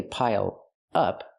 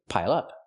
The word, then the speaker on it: pile up: Pronounce it like one word. Don't say pile up, say pile up.